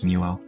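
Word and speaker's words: Mewo: I say it like Mew, like the Pokémon, and then I add an O, so it's Muo.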